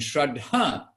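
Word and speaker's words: श्रद्धा: who's passed away and shraddha is faith with a long a at the end and a short at the beginning so we hear about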